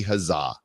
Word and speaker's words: Huzzah: I'm curious to hear I think they pronounce it wrong though I told Nick over there it's it should be huzzah huzzah it should be